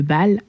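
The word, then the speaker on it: Baal: donc le culte de Bâ à Judas donc si tu ne connais pas B ça s'écrit B a a l et c'est connu pour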